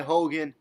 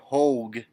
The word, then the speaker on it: Hogue: Caught by Hogan. Or not Hogan, Hogue.